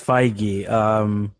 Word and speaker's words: Feige: Kevin yeah now it's it's Feige I'm tryna like I listen to like a pronunciation thing to that I was like now